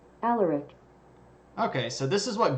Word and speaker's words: Alaric: Alaric. Okay, so this is what Google says. Let me turn the volume up here. Here's what Google says. Alaric.